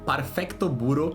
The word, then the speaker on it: Perfect Blue: Lançado em 1997, Perfect Blue do original Perfecto Buro. Sim, essa é a pronúncia.